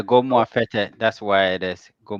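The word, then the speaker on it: Gomoa Fetteh: He said, "Is it Goma Feta? Is that how you pronounce it?" Yeah, go more fete.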